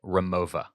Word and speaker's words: Rimowa: I've always called this Rimowa. Okay. I am hearing people online call it Remova. Okay. Pronouncing that W European style as a V.